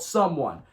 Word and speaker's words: Sumwun: This is spelled SUMWUN, and it's called Someone.